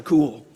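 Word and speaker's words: Kuhl: Cool. And she's Dr. Cool because her last name is spelled K-U-H-L.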